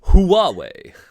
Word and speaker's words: Huawei: it nobody that can't even people can't even pronounce huawei like i mean like it's huawei that's the thing that i'm sure like xiaomi